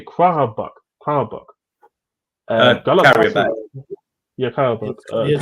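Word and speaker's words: Qarabağ: Like I think see Salzburg, Lille, how do you say Karabakh, Carrier back. Galatasaray. Yeah, Karabakh. Yes, Karabakh.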